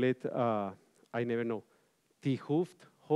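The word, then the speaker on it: 't Hooft: In high energy physics, you call it, I never know, T-Hooft, what is the right pronunciation of the, you know, the Nobel Prize, Tuft, okay, that's the right pronunciation, okay.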